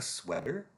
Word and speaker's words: sweater: And that is the eh sound as in egg. Sweater. Same sound as dress.